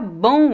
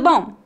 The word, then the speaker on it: bom: o som das vogais a letra M não é pronunciada claramente como um M repita depois de mim